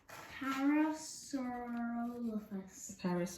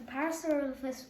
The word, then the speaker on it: Parasaurolophus: Parasaurolophus.